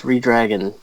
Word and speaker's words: Redragon: How are you supposed to pronounce it? It's Redragon or Red Dragon. You're not supposed to say both D's. You're supposed to say one. Red Dragon? Because it's supposed to be one combined word.